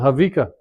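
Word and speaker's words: Haweka: Some people pronounce it Hawika, some people pronounce it Hayawika, and some people pronounce it Havika. There's no V. The W is a V.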